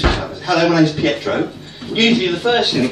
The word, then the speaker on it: Pietro: Not a difficult name. Very easy. 3 very straightforward syllables. Pietro.